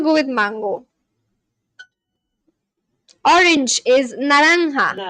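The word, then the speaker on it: naranja: Orange is naranga.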